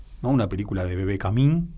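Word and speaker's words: Kamin: Una película de Bebé Camín, si no me equivoco se pronuncia así, se acentúa así el apellido, que a la vez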